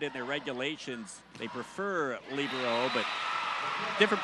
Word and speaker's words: libero: let that one go libero is is uh I've argued with some people about that I prefer libero sometimes the term is labero the girls high school